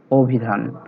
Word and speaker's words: অভিধান: শুরুতে আছে তাই ও এর মতো হয়েছে, অভিধান।